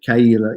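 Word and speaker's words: Caol Ila: And I think I wrote that recently, that it is Kaila.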